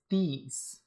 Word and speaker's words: Thies: I thought it was I thought it was pronounced something like Thies or Tees. But I looked it up and it's Thies.